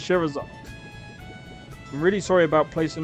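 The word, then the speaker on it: Scherazard: Cheserard. Why did you make names so impossible to Sherazard. That you pronounce it Sherazard.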